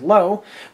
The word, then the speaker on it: Löwe: And this vehicle here is the Panzerkampfwagen 7 Löwe, which I'm most likely going to be Americanizing the pronunciation for majority of the video as low, but this vehicle here